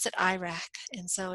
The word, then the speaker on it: IRAC: after a little mnemonic kind of named after the country of Iraq and but we pronounce that Iraq and so it's IRAC